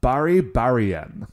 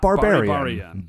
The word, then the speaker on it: Baribarian: Baribarian. Not barbarian. Baribarian. Apparently Baribari is like an onomatopoetic sound in Japanese for like how like bike horns sound.